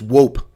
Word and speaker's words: hoop: Like, you know, hula hoop, a hoop. But in Afrikaans, it's not hoop. It's wope. They pronounce the H like a W.